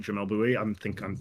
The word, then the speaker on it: Jamel Bouie: Jamel Bouie.